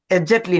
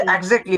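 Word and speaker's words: exactly: বিগারটা কত বড় 14000 square metre অলমোস্টলি এটার উচ্চারণটা কি হবে বলু এক্সাক্টলি এক্স্যাক্টলি এক্সাক্টলি না এক্স্যাক্টলি এক্স্যাক্টলি এটা হচ্ছে এক্স্যাক্টলি মানে একুরেটলি আমরা বলি নাই এক্সাক্টলি এত দা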